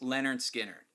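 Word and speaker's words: Lynyrd Skynyrd: but I picked out Leonard skinnard pronounced Leonard skinnard and to me this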